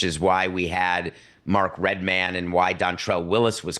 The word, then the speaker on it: Redman: I I love because there's Mike Redmond and Mark red man so that is we make the distinction we talk that way but I think he would say it's Redman I love his album